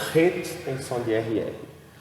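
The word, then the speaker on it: חֵית: Het. E nós escrevemos assim, mas a pronúncia é Het, né? Porque o CH do inglês ele tem uma pronúncia de RR.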